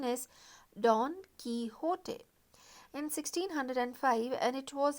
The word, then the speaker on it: Don Quixote: see this is a spelling but the correct pronunciation is don quixote in 1605 and it was an instant success the second part of don quixote was published in 1615.